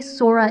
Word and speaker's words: Sora: ahead without her grandmother she remembered how Harmony would say her name with a soft s and a gently rolled R when I say Sora in English it sounds like this Sora Sora kind of like Sarah but when you say